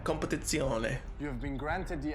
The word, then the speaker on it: Competizione: That's how you say it, Competizione.